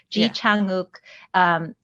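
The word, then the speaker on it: 지창욱: to pronounce Korean, is there's a lot of aspirated consonant sounds. So breathing through a lot of the pronunciation actually increases like how well like good your pronunciation is. So you can say Ji Chang Wook, Ji Chang Wook, doesn't sound as Korean as Ji because you like breathe through that J sound.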